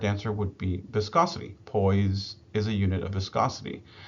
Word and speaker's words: poise: Okay, so the last question for these uh basics and fundamentals um is this poise, right? Pronounced with like a Z, P O I S E, but it's pronounced like a Z.